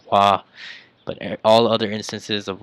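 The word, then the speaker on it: は: As you guys know, this is a hiragana ha, but if it is used as a particle, uh, as a topic particle, it is not pronounced ha, but it's pronounced wa.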